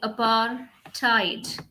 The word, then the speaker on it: apartheid: rights violation travelogue apartheid how do you pronounce this word it is actually apar tide okay apartheid and autobiography